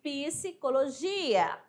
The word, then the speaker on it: psicologia: Agora, pisse, ó, sai o som do P, do S, do I, psicologia.